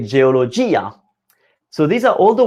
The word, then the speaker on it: geologia: But there are words when it's actually the diphthong, I can't pronounce it, it's broken, and we say geologia.